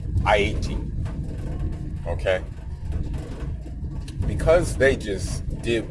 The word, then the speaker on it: Haiti: And so the thing is, because Haiti, that's the correct way to pronounce it, Haiti, okay?